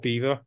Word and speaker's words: Belvoir: Castle no Beaver Castle it's spelled Belvoir but to confuse people it's called Beaver yeah so there lot